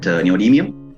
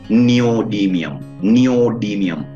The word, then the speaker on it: neodymium: to know about that neodymium, right? Probably you better go through that word several times. Neodymium, right? Sometimes people pronounce that thing as neodymium also. Both are accepted equally, no problem, right?